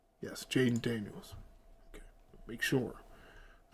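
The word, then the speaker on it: Jayden Daniels: Yes, Jaden Daniels. Okay, make sure. I'm saying the guy's name wrong the whole time.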